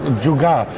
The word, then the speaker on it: jugaad: word this week actually it's called the word jugat jugat the word jugat is spelled j u g a a d it's a word for